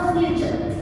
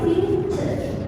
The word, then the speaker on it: future: Nah, jadi pembacanya kan bukan futur tapi future ya tak tambahkan sedikit ya.